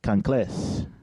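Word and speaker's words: kanklės: I'm pronouncing it correctly conas yes it just stresses on on the first part so con con thank you yes very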